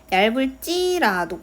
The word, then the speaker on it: 얇을지라도: 된소리로 발음이 됐어야 돼요 근데 얇을지라도에서는 리을 비읍 뒤에 어미가 첫소리가 을이에요을 그러니까 여기는 된 소리가 여기서 일어난게 아니라 얇을 찌라도 여기 리을 뒤에서 된 소리가 된 거죠 여기서이 ㄹ이 바로 어미가